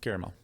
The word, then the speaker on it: caramel: Caramel. You actually say it, which I think is the proper way to say it, which is caramel.